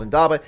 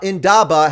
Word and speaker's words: indaba: I'll keep it simple now indaba has three syllables but it's almost an